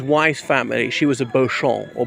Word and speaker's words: Beauchamp: She was a Beauchamp, or Beauchamp as it became pronounced when it was anglicised, and because somehow he